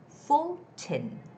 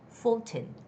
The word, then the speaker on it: Fulton: it's brian ford or it's full tin full tin full no it's fulton fulton okay wow we